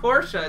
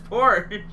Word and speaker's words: Porsche: Oh yeah, I'm a stickler for Porsche being pronounced properly. Porsche, dude. What it's not Porsche. It's Porsche.